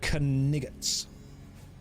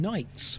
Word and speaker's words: knights: away, you silly English caniggets." They're just saying knights, but they don't know to not pronounce the K.